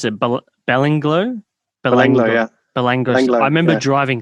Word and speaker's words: Belanglo: How do you pronounce it? Belanglo? Belanglo, yeah.